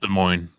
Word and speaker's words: Des Moines: but I actually consider moving out to to Damone or Daman Demone whatever the it's about like an hour hour south of a hour north of the world is pronounced Des Moines okay I was gonna say cuz an hour